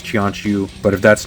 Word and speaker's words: Qianqiu: This time I'm taking a look at the snail shell fellow moon agent Kianu or Chianu. Sometimes the Q in Chinese is pronounced like a ch. So I think it's Chianu.